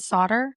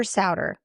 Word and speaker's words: Sauder: Is it Solder? It's Ser like rhymes with chowder which I'm sorry I didn't help you with that.